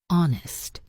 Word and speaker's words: honest: Castle silent t honest silent h.